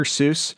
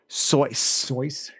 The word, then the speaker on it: Seuss: know it's not sushi it should rhyme with voice so it's it's actually dr soyuz now i know that